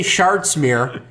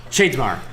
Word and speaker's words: Shadesmar: Like when I say Shardsmere, you're supposed to say Shardsmore. Shadomir. Shadesmar.